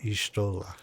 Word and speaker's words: Y'shtola: Did I pronounce that right? Yes. Okay. Y'shtola.